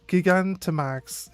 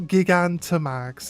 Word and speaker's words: Gigantamax: So, it's not gigantax. It's gigantamax. I thought so. The word is a combination of gigantic. That's the way I was reading it. Yeah. It's pronounced with a hard G sound.